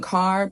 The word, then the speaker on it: carb: But yeah, so basically I decided to really get focused on on carb. That's the name of the brand. That's how you pronounce it for those of you that are wondering.